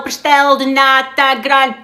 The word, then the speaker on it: pastel de nata: googly googly search on how to say it. It's the pastel pastel de nata.